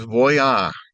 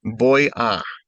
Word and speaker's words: voy: it that way, but boy. The v has a hard b in many or most Latin American countries.